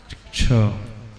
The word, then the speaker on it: क्ष: ग नहीं, क और श, षटकोण का श। क और षटकोण के श के कॉम्बिनेशन से बना है क्ष। इस कारण उसका इंग्लिश में जो स्पेलिंग होती है KSHA, है ना? क्ष, छतरी का छ नहीं।